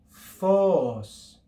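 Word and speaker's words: φῶς: If we add the circumflex accent, we have phos, phos, phos. You can hear the rise and the return of the pitch on that syllable.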